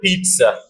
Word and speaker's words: pizza: e sound for example in the word Pizza I giv e sound and uh formula